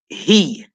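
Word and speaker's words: היא: He. You pronounce she, he in Hebrew.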